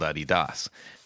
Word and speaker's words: Adidas: I said, "You know, we actually called them the wrong thing," and she was like, "What are you talking about?" I said, they're supposed to be called Adidas. She said, "Why would they be called Adidas?" I said, "Well, because the guy who created them is named Adi Dassler. So that's why they're called Adidas. But we don't call them that over here.